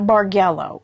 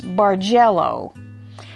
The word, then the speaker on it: Bargello: Bargello, and it's not Bargello, it's Bargello, and it's not Bargello like a hard G, it's like a soft D and a Z, so it's Bargello, like that. It originates from a Bargello Museum in Florence, Italy,